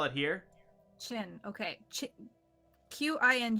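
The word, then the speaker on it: Qing: Q I N G is read Qin. Thank you. Qin Kuang? Qin Kuang?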